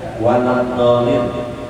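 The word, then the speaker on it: وَلَا الضَّالِّينَ: Yang ketiga waladhdallin, itu ada tasdid di ujungnya, waladhdallin. Itu aja dari sini.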